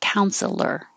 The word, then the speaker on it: counselor: therapist or counselor and we don't have to say the middle e like counselor it can be just two syllables counselor and jail the